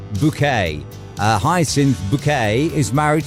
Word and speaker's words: Bucket: it's about a snobbish lady called Hyacinth buckets pronounced bouquet uh Hyacinth bouquet is married to Richard bouquet